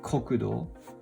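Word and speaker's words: 国土: so country plus tsuchi and you can pronounce it as kokudo means national land kokudo kokudo the next one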